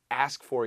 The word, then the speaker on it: ask for: Now what's interesting, 빨리 말하면 이 K 발음도 약해져. Ask for, ask for. 진짜 ASS처럼 들을 수 있어요. Ask for. What are they asking for? Asking 할 때 you're going to hear the king 발음. 근데 ask for, ask for. What are they ask for? 진짜 K 발음 안 들리는 거예요.